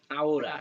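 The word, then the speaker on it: ahora: আওরা, এটাকে বলা হচ্ছে আহোরা বলে না, এটাকে বলা হচ্ছে আওরা। নাও, আওরা, ওরা, আওরা। আওরা। এই আওরাটাও কিন্তু ম্যাডাম একটু আসতেছি। এসব। হ্যাঁ, এটা হচ্ছে নাও মানে হচ্ছে আওরা।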